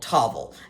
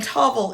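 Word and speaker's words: Tavel: I like to get my rosé from a place called Tavvel and that is spelled T A V E L and Tovel is in the southern Ron Valley.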